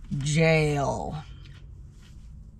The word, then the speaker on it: gaol: We now suspect that the G-A-O-L is pronounced jail.